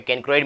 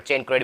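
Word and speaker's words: chancroid: लो या कैनक्रोइड, यानी आपको कई बुक में कैनक्रोइड मिल जाता है, कहीं पर चेनक्रोइड मिल जाता है, और आप किसी के वीडियो भी सुनोगे तो वहाँ पर भी आपको ये इस तरह के प्रोनाउंसिएशन में अंतर मिल जाएगा।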